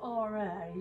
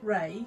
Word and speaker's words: Ra: is, well, it's spelt R-A. Some people call him Ray, some people call him Ra, some people call him Re, some people call him, there's so many names for him, Ray Horfkey, there's so many different names for him.